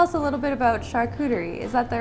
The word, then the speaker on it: charcuterie: And today he's going to tell us a little bit about charcuterie. Is that the right way to say it? Yep, charcuterie, which is basically any type of preserved meat,